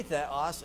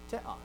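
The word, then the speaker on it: θεός: But everyone you hear will say theos, and that's fine. I'm not telling you not to say it that way, just so we all know, or right? But then when they would pronounce it fast, you wouldn't oftentimes even hear that ha aspiration, teos. So when my dad says it, he'll say teos. And it's just a slight breath, but you won't even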